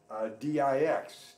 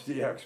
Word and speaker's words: dix: And, you know, the French word for 10 is D-I-X, dix. But you don't pronounce DX.